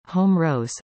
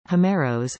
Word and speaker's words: Ὅμηρος: Homer, Ancient Greek, Homeros, Greek pronunciation, Homeros, Homeros, is the legendary author of the Iliad and